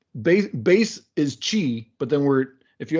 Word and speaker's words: Qi: q y or uh that it's actually pronounced chi the chi standard came